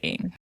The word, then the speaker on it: Eng: Yeah, but nobody who speaks English can pronounce it pro pro you know, it's Chinese. Yeah, right. So, it's like you that's like valiant effort. It's I just say Eng.